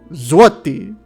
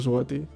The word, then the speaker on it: złoty: Coming through with the 5 Polish złoty. Pretty sure that's how he told me to pronounce it. Z-W-O-W. No. Z-W-O-T-E-E. Złoty. Złoty. Złoty. One of those.